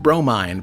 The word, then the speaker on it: Bromine: Bromine, pronounced bro. Mine.